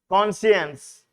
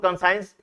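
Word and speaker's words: conscience: कॉन्शियंस, बहुत से लोग कॉन्साइंस कहते हैं, वो गलत कहते हैं।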